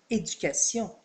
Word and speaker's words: éducation: En anglais, on dira education, l'accent est mis sur la troisième syllabe. Mais en français, on dira éducation avec l'accent sur la dernière syllabe.